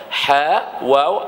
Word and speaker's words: Hawa: Ejaan dia ha wau alif hamzah. Hawa. Ha bacaan dia nama siapa? Nama Hawa. Ha kita duk sebut Hawa. Hawa. Hawa. bahawa sebutan dia Hawa. Sebutan dia macam tu.